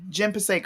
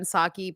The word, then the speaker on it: Psaki: Jen Pasek or something like that. Jen Psaki. Psaki. Okay. I said Pasek.